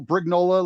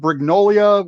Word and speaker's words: Brignola: I tell people Brignola like granola. Granola. Yeah. Granola. Please don't pronounce it Brignolia, which most people seem to do.